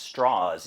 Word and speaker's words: Strauss: Robert Oppenheimer and Louis straws he was from the south he grew up in Virginia and he always wanted to have the name pronounced straws even though it's spelled the same as Leo Strauss and Levi Strauss s-t-r-a-u-s-s